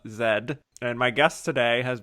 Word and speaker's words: Z: have been another Film Z or as they pronounced it in the film Zed and my guest today